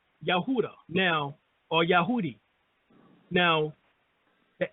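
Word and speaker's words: יהודה: the word Judaism or Judah within Hebrew is pronounced yahuda now or yahudi now the ancient ktic name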